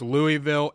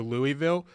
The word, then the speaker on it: Louisville: I can't figure out the disrespect the committee gave to Louisville because in the final AP poll... I think you're pronouncing it wrong. I think it's Louisville. You kind of just have to...